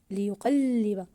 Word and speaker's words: ليقلب: في كلمه الجرار ليقلب ليقلب ممتاز ضاعفنا حرف اللام في كلمه ليقلب الكلمه الاخرى التراب التراب ممتاز ضاعفنا حرف التاء في كلمه التراب لماذا؟